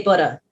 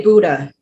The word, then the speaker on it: Buddha: this one i love the uk pronunciation buddha you guys say butter yeah but uh we would say buddha ooh with an ooh sound buddha but a buddha